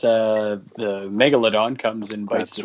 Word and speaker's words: megalodon: of jason statham somehow pronouncing the megalodon as one syllable it's megalodon i didn't know that